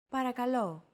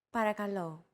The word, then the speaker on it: Παρακαλώ: Don't forget that words get accentuated in Greek, so make sure to stress that final syllable with the accent mark. Repeat after Chrissy. Παρακαλώ. Παρακαλώ.